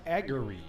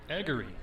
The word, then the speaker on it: Aggery: And I received a message from one of our fans that the proper pronunciation of the pitcher for Dwenger is Aggery. Aggery.